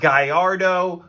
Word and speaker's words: Gallardo: Yes, I know it's pronounced Gallardo, but we're American and we say things horribly.